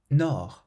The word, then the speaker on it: nord: The next word, nord. Nord. This means north, and again it has a silent D.